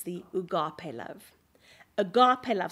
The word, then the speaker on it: agape: It's the agape love. agape love, spelt A-G-A-P-E, but pronounced ugape.